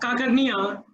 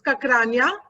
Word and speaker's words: Kakrania: your name incorrectly, Kakarnia, to read out his speech objectives. Thank you, Rahul. Yes, you mispronounced my surname as usual. So it's Kakrania, and it's a very common practice.